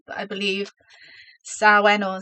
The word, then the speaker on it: Samhain: because I checked I know I'm terrible with pronunciation but I believe sawen or sowen is the way that you pronounce it so